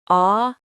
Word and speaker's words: audacity: Yes, audacity. Stress on the second syllable.